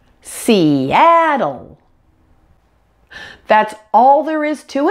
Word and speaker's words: Seattle: syllable on the app and that dark L at the end and we have seattle seattle that's all there is